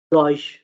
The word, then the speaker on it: Deutsch: है, for instance जैसे आपके पास ये डॉइश, ठीक है, हम इसमें टी का साउंड जो है ना स्किप कर देते हैं, ठीक है।